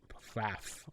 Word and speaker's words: Pfaff: and written by William Pfaff. I think that's how you pronounce his name. P-F-A-F-F. Pfaff? I don't know. Pfaff? Pfaff? Yeah. It'd be Pfaff. Probably the P is silent.